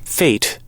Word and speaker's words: fete: is called yeah here's what it sounds like fate fate no faith fate it's more of an